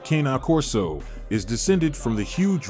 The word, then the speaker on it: Cane Corso: The Italian Mastiff, or Cane Corso, which is phonetically pronounced Cana Corso, is descended from the huge Roman military dogs.